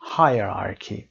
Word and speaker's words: hierarchy: hierarchy تلفظش هم دقت داشته باشید. hierarchy به این شکل.